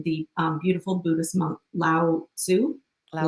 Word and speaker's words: Lao Tzu: And that's from, and help me pronounce his name, the beautiful Buddhist monk Lao Tzu. Lao Lao Tzu.